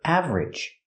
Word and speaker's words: average: With the word average, we don't say average. We don't make it 3 syllables. We make it 2 syllables. Ridge. Together, average.